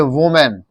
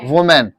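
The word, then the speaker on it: woman: जब मैं सिखाया था ये सिंगुलर आ जाता है, एमएन सिंगुलर आता है, तो इसको प्रोनाउंस करते हैं वुमेन. क्या प्रोनाउंस करते हैं इसको? वुमेन.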